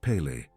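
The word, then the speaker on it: פלא: The word in the original Hebrew is Peli, written Peli-a, pronounced Pele.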